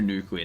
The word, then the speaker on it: nuclear: We'll do Nuclear Nathan as the yes.